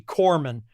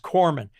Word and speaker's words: corpsman: corpsman collapse me but the name of the pronunciation is actually corpsman his way it's pronounced it's spelled Co RP s ma an but it's pronounced corpsman and the thing is it's the whole title